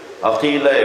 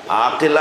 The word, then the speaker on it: عقیلہ: بیت کا کمال ہے۔ عقیلہ، عقیلہ، عاقلہ نہیں، عقیلہ، جس لہجے میں قمر بنی ہاشم بولا جاتا ہے نا، اسی لہجے میں